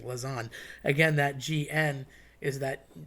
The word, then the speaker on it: lasagne: So, lasagna would literally be one noodle. Now, we just call it that cuz it's one big lasagna. But when you cut it and you layer it, it's really lasagne. So, think about like linguine is literally a bunch of noodles in a bowl because linguine, ending with an e, would be one noodle. So, you want to eat the lasagne really, but everybody says lasagna.